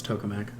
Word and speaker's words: tokamak: created with is called EAST, or it's called the Experimental Advanced Superconducting Tokamak. I don't know what tokamak means. Maybe but it's where it is. probably There's no R in there. That's tokamak. tokamak.